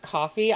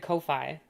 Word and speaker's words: Ko-fi: I thought it was pronounced coffee. I always pronounce it Kofi.